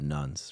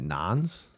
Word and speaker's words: Nones: is it is it non's because I always see it no that's pronounced nuns yeah yeah because that's